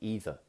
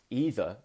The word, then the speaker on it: either: But in the southwest, where I'm from, we can say either. And that's another one. Either or either. Doesn't matter how you say it how you want.